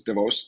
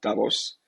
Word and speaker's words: Davos: I'm calling in from Davos or DeVos as I've been reminded the real pronunciation is divos not Davos so glad to be